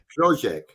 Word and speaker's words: Hložek: Well, the obvious link is Hložek, right? So that we've been banging on about this for a long time. So today, Sorry, could you pronounce his name again for me, please? Hložek.